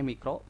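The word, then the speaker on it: μ: M yang berekor ini dibacanya mikro.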